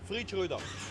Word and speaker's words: Freidschröder: It's hard for everybody to pronounce it. It's Freidschröder.